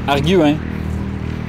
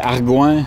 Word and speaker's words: Arguin: Arguin. Arguin? Arguin. OK. Les gens, même quand je dis arguin, là, les gens disent OK, argoin, OK, arguin.